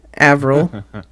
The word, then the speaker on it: Avril: Avril. It's Avril. the French word for April.